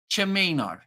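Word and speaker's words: Tchimino: that name it's the T at the start it's spelled t-c-h-i-m-i-n-o Cimino the tea is silent a great seller dummy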